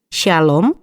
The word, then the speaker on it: Shalom: a l o m keduanya sama saja karena dalam bahasa Indonesia tidak mengenal pengucapan SH tapi sy berarti damai perdamaian atau ketenangan